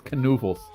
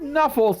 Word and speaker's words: Canoofles: Oh, it's Canoofles. No, not Nuffles. That's not how you say it. Say it right.